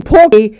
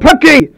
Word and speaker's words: Perky: And most of all, you guys always pronounce my name wrong. You call me Porky instead of Perky.